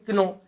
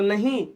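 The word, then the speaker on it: know: के एन ओ डब् अब कई बोलेंग क्नो तो नहीं यहां पर भी के क्या है स्टूडेंट साइलेंट है क्या है साइलेंट है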